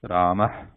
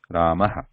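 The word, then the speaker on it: रामः: However, in practical pronunciation, like the practical usage when we talk, Even the visarga, the word with the visarga sound like this, the second one, we tend to hear or pronounce it like this one, Ramaha, Ramaha, which is technically not right. Technically, it should be pronounced like Rama, Rama, or if it is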